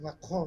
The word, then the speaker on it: Macron: O presidente Macron, da França, Macron, né, para pronunciar adequadamente, também não é de esquerda, é um homem de centro, né?